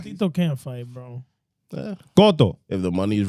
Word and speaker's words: Cotto: Cotto. If the money's right, What? Cotto. Miguel Cotto. Miguel Cotto. ¿Y esa mente sucia tuya, loco? ¿Y qué pasó? ¿Y qué? What, bro? Es que, loco. Cotto.